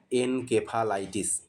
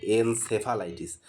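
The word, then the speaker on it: encephalitis: কে এর জায়গায় সে, এনসেফালাইটিস। এটার বানান আসলে ENCE, CEPHA, এইভাবে। এই সিতে কেউ কে উচ্চারণ করে, কেউ সে উচ্চারণ করে, যেটা উচ্চারণ করবে সেটাই সঠিক।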